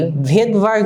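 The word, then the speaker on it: Svedberg: এই এস মানে হচ্ছে এস কে আমরা বলে থাকি ভেদভার্গ ইউনিট।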